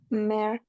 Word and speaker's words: mer: ¿Pronuncio o no pronuncio la R si es monosílabo? No se pronunció. Sí. Ah, si es monosílabo, Sí. sí, porque tenés Ah, poquito sonido. Entonces, ¿cómo pronuncio, Alexia? mer.